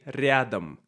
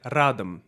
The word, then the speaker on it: рядом: So we say рядом. And he said радом. Can you hear the difference?